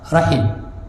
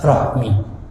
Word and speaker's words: rahim: Persaudaraan yang putus maka Bacanya apa rahim bukan Rohmi ya tapi di kita